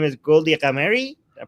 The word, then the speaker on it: Ghamari: Her name is Goldie Ghamari. I pronounce her correctly. You Ghamari, did.